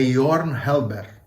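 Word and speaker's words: Jørgen Halberg: muda a maturbar York eu fui ver como é que a pronúncia certa do nome dele em dinamarquês é your Helber eu vou falar e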